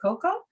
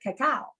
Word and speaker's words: cacao: gland is the raw we used to always pronounce it coco now they call it cacao yeah raw cacao and